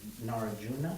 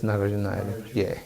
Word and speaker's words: Nagarjuna: just wondering, when you say that Narajuna, is that how you pronounce it? Yes, Nagarjuna.